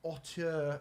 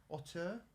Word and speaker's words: auteur: Plus, Trade Off is a solo auteur duel. Auteur? That's not how you say it. Auteur.